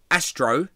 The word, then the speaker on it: Astro: hello what's your name after Astro yeah like astroturf yeah I know I